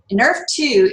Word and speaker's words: NRF2: that are abbreviated into this nrf2 and it's pronounced in earth in earth 2 is a is basically